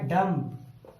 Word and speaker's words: dumb: क्योंकि एम के बाद बी आया, तो बी साइलेंट हो गया। तो DUM सिर्फ इतनी ही हम ध्वनि निकालेंगे, तो ये बनता है डम। डम मीन्स गूंगा।